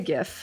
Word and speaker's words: GIF: I say GIF, and that's the only correct pronunciation. And I will not have arguments to the contrary.